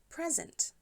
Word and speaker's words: present: Poklon se kaže present. Present. Present. Present. Prvi slog akcentovan.